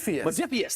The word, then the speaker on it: Modiphius: Modiphius. That's how you pronounce it.